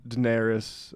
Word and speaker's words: Daenerys: So we've got a mashup that sort of, I think, captures this white feminism, Daenerys. That's how you pronounce the name, right?